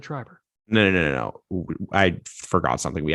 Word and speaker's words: Schreiber: I said Schreiber.